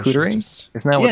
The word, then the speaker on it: charcuterie: It's your New Yorker accent that was throwing me off, the pronunciation. Charcuterie?